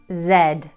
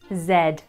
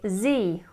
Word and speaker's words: Z: Z. This letter rhymes with bed. Z. But in America they say Z, rhyming with me.